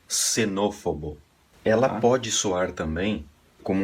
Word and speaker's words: xenófobo: aqui um exemplo palavra nesse caso aqui ela soa como uma S também tá seria xenófobo ela pode soar também